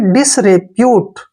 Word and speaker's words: disrepute: डी आई को हम डी पढ़ते हैं, डी, और एस को से पढ़ते हैं, डिस, डिस हो गया ना। आर ई को रे पढ़ेंगे, रे, ऐसे रे, और पी को पढ़ेंगे पे, और यू को यू पढ़ेंगे ऐसे, और टी ई को टे पढ़ेंगे। डिसरेर, ऐसे इसको पढ़ेंगे डिसरेप्यूट, ठीक है ना, डिसरेप्यूट, डिस पहले बोलना है, रेप्यूट बाद में।